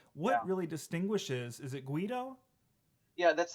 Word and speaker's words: Guido: right yes you know but it's spelled like g-v-i-d-o like the video i mean paul and i were tripping over and saying how do you pronounce this thing well it's guido turns out so what distinguishes